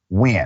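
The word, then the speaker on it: Nguyen: named BW it is spelled NG yeen but pronounced wi I had a great conversation with Miss W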